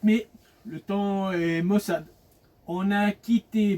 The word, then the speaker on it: Thann: Et ben dimanche 4 mai, le temps est mossade. On a quitté Bfort ce matin pour se diriger vers temps. Ça s'écrit t h a n.